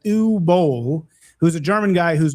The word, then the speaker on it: Uwe Boll: certain about this, but I think you pronounce the W with the V sound, so I think it's Uwe or Uwe Boll. Uwe, yeah, Uwe.